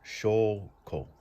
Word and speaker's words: 証拠: And then this here is pronounced shoko. Shoko.